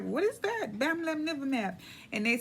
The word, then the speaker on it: Bamlanivimab: So I'm gonna make an attempt here to pronounce the name of this. It's called Bamlanivimab. Bamlanivimab.